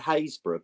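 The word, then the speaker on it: Happisburgh: we've got a place in um norol called hayborough but it's spelled harisburg and and there's another place that's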